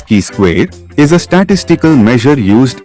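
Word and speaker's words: chi-square: symbolically written as two pronounced as key square is a statistical measure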